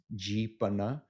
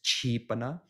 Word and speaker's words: Jipana: Does it reflect a Tamayuttaka Nikaya pronunciation of Pali, such that something spelled Cho Chang Sala'i Popla Nanu is understood to be pronounced as Jipana instead of a ordinary or also Mahanikai pronunciation of Pali as Chipana?